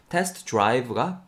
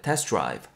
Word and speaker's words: test drive: Test drive가 이제 test drive, test drive. 발음이 빨리 되면은 중간에 T 사운드, 여기에 T 사운드가 탈락한다고 봐도 무방하겠죠?